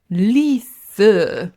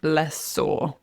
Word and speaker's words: lessor: So, a tip is it's not leaser or leaser.